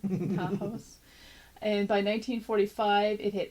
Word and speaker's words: Tahawus: This new community was first known as the Lower Works, but then became Tahawus. Oh, I just mispronounced it. Tahawus.